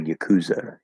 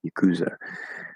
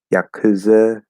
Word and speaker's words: yakuza: reduced yataya yakuza um english dictionaries dictionaries list really weird pronunciations that are uncomfortable for me to say like yakuza yeah yeah like i don't even know like another reason to ignore the ipa uh it's just yakuza yakuza um maybe we'll keep